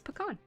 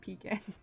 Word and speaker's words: pecan: the u.s the connect correct pronunciation is pecan that is my stance on it you cannot change my mind the etymology of the word pecan stems from the algonquin languages for the general word for nut in the abenaki tribe the word was pagan in miami illinois it was pakani and the abijibwa called it aga the sawini word was pakani the adakape tribus pecan tell the state of georgia it's not pekin okay see everything what